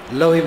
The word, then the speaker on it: लौह: लौह महफूजस्त, लौह लौह लोह, संस्कृत में लौह और अरबी में लौह, दोनों में उच्चारण वही है और अर्थ वही, लोहा।